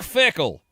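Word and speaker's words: Fickell: Does his last name rhyme with pickle? That's it. Oh, Luke Fickle.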